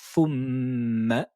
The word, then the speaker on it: ثم: Huitième verset, le premier mot, thumma, on le connaît déjà. Lettre th avec dhamma, faux, ressortez les lèvres vers l'avant, prenez la langue, ressortez-la et mettez-la sur les dents incisives supérieures.